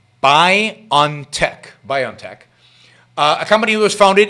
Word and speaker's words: BioNTech: by a german company by a company called bio by on tech that's how you pronounce the name b i o n t e c k c h buy on tech biontech a company was founded in mainz in